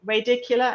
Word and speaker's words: radicular: And then is it radicular?